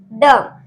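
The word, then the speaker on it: dumb: और इसमें भी डम, क्योंकि एम के बाद बी है तो इसमें भी बी साइलेंट रहेगा तो हम पढ़ेंगे डम।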